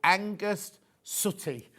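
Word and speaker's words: Angus Sutti: Okay, he's called Angus Sooty, not spelled like sooty and sweep. S-U-T-T-I.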